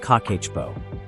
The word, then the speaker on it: Kakeibo: The Japanese have a method called Kakeibo, pronounced Kakeibo, used for over 100 years.